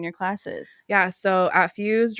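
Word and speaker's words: Phuz333d: yeah so yeah and that's spelled p h u z three three three d fused yeah it's a sick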